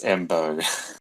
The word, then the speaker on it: Mbow: Sorry, I butchered the pronunciation again. It's Mbow.